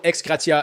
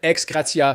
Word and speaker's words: ex gratia: Ils ont reçu des fonds de réinstallation ex gratia, je déteste le prononcer à l'américaine, ex gratia, pour les aider à se réinstaller dans ces nouveaux emplacements aujourd'hui.